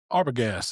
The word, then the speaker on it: Arbogast: Andrew Arbagast. Did I pronounce that right?